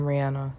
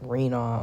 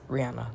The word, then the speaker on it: Rihanna: But hey, I'm Rihanna. That's how you pronounce my name. If you look at it and you think it's like Rena or something, or Rena, it's Rihanna, like the singer.